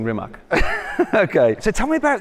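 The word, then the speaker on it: Rimac: on Bugatti products and rimax products yes I'm saying it kind of half correctly it's it's rimat isn't it rimat yeah it's a creational way of pronouncing rimat okay so tell me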